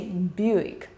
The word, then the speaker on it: Buick: And yet, a lot of folks still can't properly say Buick, stretch both syllables and soften the E in the second.